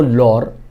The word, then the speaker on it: लाहौर: पंजाबी में इसको लाहौर और कसूर ऐसे प्रोनाउंस किया जाता है।